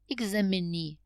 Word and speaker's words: examinee: you can see that we have the stress on the last syllable refugee examinee interviewee refugee is a